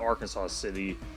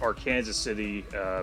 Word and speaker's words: Arkansas City: It's not Arkansas City as you'd think, but it's Arkansas City, pronounced as Kansas.